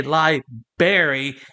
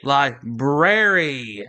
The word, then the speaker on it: library: you're a literate but it's not a Liber it is a library yeah I know I